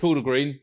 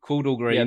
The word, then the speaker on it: Chordal Green: Called, I want to make sure I pronounce it correctly. Yeah. Chordal Green. Chordal Green.